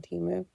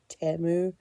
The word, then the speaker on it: Temu: correct me, I know according to the Super Bowl commercial, it's supposed to be pronounced Temu. I'm going to continue to call it Temu because it sounds better to me, I guess.